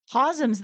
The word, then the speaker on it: Cosm: I will never forget Cosm. I want to go so bad. That's a callback to last week's episode. Anybody who hasn't listened, get on back there. It's spelled COSM. It's not me mispronouncing chasm.